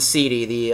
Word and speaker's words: Seedi: It's called the Seedi, and it's spelled SEEDI. It's kind of play on words like CDI, CD, but it does the CDI.